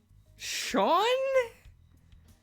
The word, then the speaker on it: Sean: meaning God is gracious how do you go about pronouncing it Sean Sean Irish pronunciation Sean that's how you say that Jesus yeah okay okay